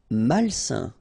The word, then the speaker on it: malsain: Malsain. A-I-N together, it's a nasal and it's un.